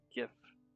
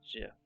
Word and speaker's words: GIF: starting with the g this is a hard g don't be tempted don't be tempted to round it like a j so it's gif not jif when you add the